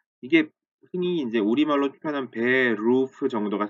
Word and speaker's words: Beruf: 그러다 보니까 이게 이 소리에 익숙지 않으신 분들이 듣기에 따라서는 베호프 이런 식으로 들리는 것처럼 그렇게 느껴질 수가 있거든요. 그러나 발음은 베호프에서 베루, 목 안쪽에서 나는 에르 발음이라는 걸 기억을 하시면 좋겠습니다.